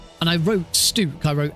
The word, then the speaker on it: Stuk: to be stook it it looks like it should be stuck but without a c and I don't want